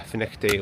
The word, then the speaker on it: Findochty: And there also must be a finick day water sports club. So, as you can see, um, fin is spelled with a f i n d o